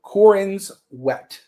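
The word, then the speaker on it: Corenswet: Cororin sweat. Cororin's wet. Yes. Yeah. It's like wet.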